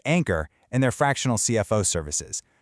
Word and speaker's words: ANKR: That's spelled NKR, but it's pronounced Ankor and their fractional CFO services.